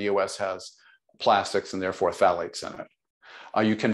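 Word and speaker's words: phthalates: talk about the the thetes the thetes is that correct am I saying it correctly the the thetes the Plastics phalates phalates phalates phalates what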